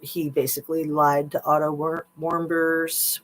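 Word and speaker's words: Warmbier: basically lied to Otto Warbeers Warbeer I think is how you say it. As if it's a warm beer.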